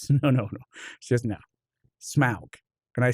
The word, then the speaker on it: Smaug: She goes, no, Smaug. And I said, oh, is it not pronounced Smog? I was like, as a kid growing up, I thought it was Smog. And she goes, no, it's Smaug.